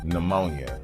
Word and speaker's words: pneumonia: Number five, pneumonia. Why is there a P at the beginning of a word that starts with N?